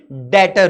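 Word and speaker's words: debtor: जिससे पैसा लेना है अच्छा इसमें बी साइलेंट है इसको डेटर बोलते हैं डी बी टी ओ आर इ the spelling but उसको बोलते हैं डेटर ठीक है डेटर से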